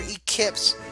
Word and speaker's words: Ekips: And that is a great game with Skips, or Ekips, if you really want to be pronounced that way.